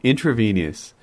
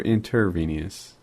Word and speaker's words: intravenous: Intravenous. Wait, is it intra or intervenous? Intravenous.